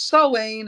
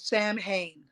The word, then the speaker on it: Samhain: So it's Sawain, or some people, it's spelled Sam Hain, but it's Sawain.